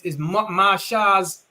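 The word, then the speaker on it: Moshe: Moses is the man that the Lord has chosen, and Aaron is Masha's. That's how you say it in Hebrew, man.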